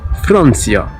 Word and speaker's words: Франция: Comme par exemple dans le nom propre Francia, Франция.